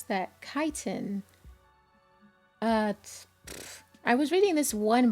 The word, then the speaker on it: chitin: wings okay so that's how you pronounce that chitin i was reading this one book about this alien insect species and whenever that word popped up i read it as chitin it's actually pronounced chitin cool i learned a thing and you know